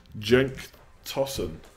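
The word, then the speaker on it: Cenk Tosun: good ships boy okay he is Turkish his name is pronounced like Jenk tossin tosin tossin djenka tossin okay I'm gonna take your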